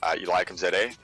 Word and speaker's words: Eliakim Zede: But yeah, the correct way to say it is Eliakim Zede.